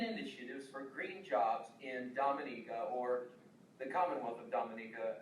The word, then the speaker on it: Dominica: is an entirely different place the commonwealth of dominica is pronounced dominica and not dominica it's not the dominican republic so it's dominica